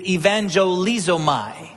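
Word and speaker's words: εὐαγγελίζομαι: The word that's used here in Luke is evangelizomai. Kind of sounds like the word evangelist or evangelism.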